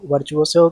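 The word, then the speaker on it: virtuoso: तो वर्चुअसो की मीनिंग भी इंपॉर्टेंट है। एक बार इसकी स्पेलिंग भी देख लेते हैं।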